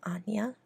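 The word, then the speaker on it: Áine: I like the name Anya, with the Irish spelling, A-I-N-E, but it looks like Ein or Ain.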